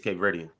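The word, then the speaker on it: Cape Verdean: Africa no cape uh what how do you pronounce it ver Verdian Cape ver Cape Verdian Cape Verdian he's Cape Verdian which for those who don't know in geography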